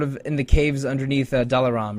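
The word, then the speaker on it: Dalaam: in the caves underneath dalar or daram I'm probably saying it wrong is it just Dam I think it's Dam dam okay yeah it's it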